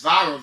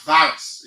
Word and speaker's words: viral: this viral video, and that word is viral, V-I-R-A-L, and not virus. In Liberia, many of you pronounce it as virus. It is quite wrong, and it should be viral video.